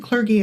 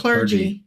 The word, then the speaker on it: clergy: clergy, and sometimes even, I said clergy, is that correct? No, it's clergy. Clergy. I don't know the words, so I always forget if it's a hard or soft G. Yeah. Okay. It's a soft Yes. clergy. It's a limp. It's a limp G.